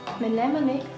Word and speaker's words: mnemonic: As a little mnemonic, sorry, I don't know how to pronounce this, but anyway. Mnemonic. What happened with the M?